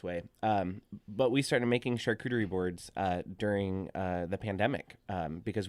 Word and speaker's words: charcuterie: So we started making charcuterie boards. That is how you pronounce it for all those individuals.